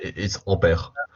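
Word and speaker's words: Ampère: Well, what is the correct pronunciation? Can you tell us by using mic? Hello? Yeah. Yeah, it's Ampere.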